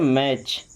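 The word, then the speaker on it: match: क्या पढ़ते हैं ऑफेन मैच नहीं क्या पढ़ते हैं मैच T silent कैच T silent बैच T silent okay चलिए अब देखिए देखिए यू कब साइलेंट होता है?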